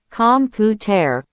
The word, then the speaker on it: computer: But in the US and Canada, when a T is between two vowels, it often turns into a fast D sound. We say water. We say better, like bedder. We say computer, like computer.